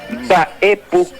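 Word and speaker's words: mba'épu: Es Baepú, una explosión, es cerrar los labios y de ahí permitir que explote la MB. Baepú. Esa es la forma correcta de pronunciar.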